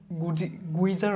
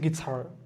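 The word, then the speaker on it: guitar: সো জি এর পরে যখন ইউ থাকে তখন সাধারণত এটা সাইলেন্ট থাকে, যেমন গ্যাস, গাইড, গিলথি, গিটার, গুইজার হচ্ছে না, এটা হচ্ছে গিটার।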